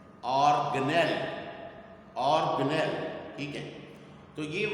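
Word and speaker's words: organelle: یعنی اس کو ٹیچرز اور اسٹوڈنٹس اکثر آرگنیلی پڑھتے ہیں، آرگنیلی، حالانکہ یہ ورڈ آرگنیلی نہیں ہے، اور اس کا جو کریکٹ پروننسیشن ہے وہ ہے آرگنیل، آرگنیل، آرگنیل، ٹھیک ہے.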